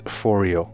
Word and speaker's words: Phoreo: by martin martin clang the designer and he pronounces this foreo so that's how i'm going to pronounce it as well and basically fourio is a trigger and gate processor of sorts